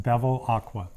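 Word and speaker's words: Bevilacqua: last name for everybody my last name is pronounced Beville Aqua Bev Aqua yeah it's pretty simple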